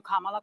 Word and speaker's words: Kamala: And I'm calling you Kamala because for all of those who are mispronouncing it, I want you all to know how to say it.